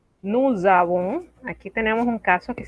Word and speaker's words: nous avons: Entonces, cuando pronunciamos vamos a transformar esa S en una Z y lo vamos a pronunciar todo como si fuese una sola palabra. Nous avons.